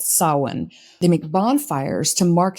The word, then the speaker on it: Samhain: for the holiday that looks to me like Samhain, but I believe is pronounced Samhain.